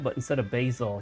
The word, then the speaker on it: Basil: I think his name was spelled B-A-S-I-L, but instead of Basil, he pronounced it Basil.